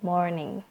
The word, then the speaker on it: morning: Sebenarnya sih ada bunyi R di kata morning. Jadinya good morning. Good more. Morning. Good morning. Penekanannya di more ya.